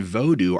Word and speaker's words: vodou: Quick note here, by the way, that voodoo and vodou are actually the same thing, they're just different pronunciations. Or should I say, different accepted pronunciations.